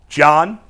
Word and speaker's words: Jhonkensy: it's the John is spelled Jhon, which is in some Latin cultures the name John is spelled Jhon.